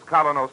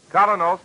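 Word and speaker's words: Kolynos: May morning if you do not already use Kalos toothpaste won't you try it soon that's spelled k o l y n o s colos toothpaste now back to Barbara and Mr Keem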